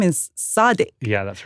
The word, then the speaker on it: Sadiq: London, who told me that his name is Sadiq. Yeah, that's right. But at school, they called him Sid. And so it kind of became Siddiq.